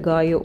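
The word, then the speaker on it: gallo: ஸோ எனக்கு பிடிச்சது பார்த்திங்கன்னா இதான் காயோ பென்தோன்னு போட்டிருக்கு பாருங்கள். இது வந்து காலோன்னு உங்களுக்கு தெரியும், பட் it's called காயோ because LL அப்படிங்கிறது ஸ்பானிஷில் வந்து ஒய், அதனால் அப்படி தான் ப்ரொனவுன்ஸ் பண்ணுவாங்க.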